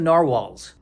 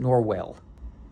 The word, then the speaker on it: narwhal: I mean, all the dolphins are against him and some of the narwhals. Is that how you say it? Narwhals or is it Norwell? I think it's narwhal.